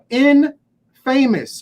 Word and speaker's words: infamous: It's the pronunciation is misleading, folks, because infamous is simply infamous.